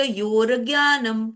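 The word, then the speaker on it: योर्ज्ञानम्: इसी तरह से नीचे क्षेत्रज्ञ क्षेत्रज्ञ योर ज्ञानम क्योंकि यो के बाद ज्ञ पर र है तो वो योर ज्ञानम र पहले पढ़ा जाएगा फिर यत्त डबल त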